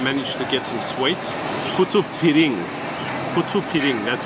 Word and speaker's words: putu piring: Putu piring, that's how you pronounce it.